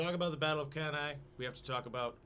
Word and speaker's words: Cannae: Cannae. Cannae. That's the Latin pronunciation.